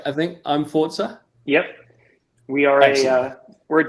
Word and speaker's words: imFORZA: I think imFORZA.